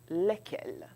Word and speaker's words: lesquels: Donc, vous ferez des liaisons quand vous aurez un nom qui commence avec une voyelle. Mais pour l'instant, nous allons prononcer simplement lesquels.